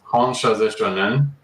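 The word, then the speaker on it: 本者是正念: It's pronounced Honshaze Shonen, and it's also known as the distance Reiki symbol.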